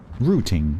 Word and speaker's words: routing: Rooting. Yes, we say rooting.